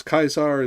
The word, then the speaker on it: Caesar: Hence why I say Julius Kaisar instead of Julius Caesar most of the time or I say Karo instead of Cicero etc.